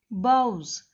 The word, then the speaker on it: boughs: The baron बाउज, it is pronunciated as boughs.